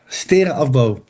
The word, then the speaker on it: afbouw: Stera afbouw.